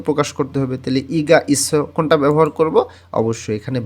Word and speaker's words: 있어요: উচ্চারণটা হবে ইসয়, ইসয়।